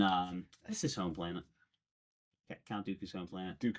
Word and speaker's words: Count Dooku: But, uh, Countu assembles him and all of these other people. Count Dooku. Uh, but he assembles all of these bounty hunters on, um, that's his home planet. Count Dooku's home planet.